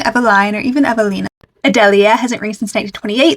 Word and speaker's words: Adelia: That's the English pronunciation. It's also a Spanish name, and you'd say more like Athelia, which is very pretty. When I read it, I thought it was going to be Adelia, which I actually really like as well, even though it's not one of the official pronunciations.